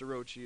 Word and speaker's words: Orochi: tackling another little beauty by Razer called the oroki and I already know right now some of you going to Flame me in the comment section saying oh it's pronounced Orochi or it's pronounced this or it's pronounced that